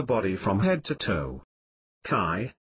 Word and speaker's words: qi: Qi, pronounced qi, or life energy, flows through these meridians and energy points.